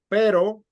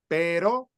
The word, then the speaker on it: pero: is in the middle but if you have I'll write it here if you have this pero which is but like in the middle but where are you going or if you have perro pero per o yeah you guys can